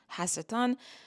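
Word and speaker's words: השטן: We tend to pronounce it in English as Satan, but it's not Satan. It's literally the Satan. It's Hasatan.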